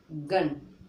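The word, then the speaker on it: gun: हमारा यू आया है, तो हम लोग यू को आ की जो उच्चारण है, आ की ध्वनि देंगे।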